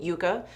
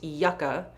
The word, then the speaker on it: Yucca: is the Natasha denona I was saying Yuca this apparently is pronounced Yucca Yucca is with one C apparently they're very different this Yucca is a flower and yucca is a root vegetable that I love but